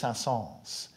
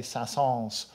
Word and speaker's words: Saint-Saëns: correct to say and not to pronounce the final s but actually all the